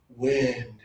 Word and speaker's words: wind: It's got that letter I, similar to slip and frizz. This is wind. Wind. Let me show everybody on camera again. Make sure you're opening your mouth a little extra, adding more air. Tongue is low.